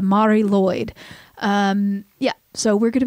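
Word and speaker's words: Mari Lwyd: But the pronunciation that I got from YouTube was the Mari Lloyd.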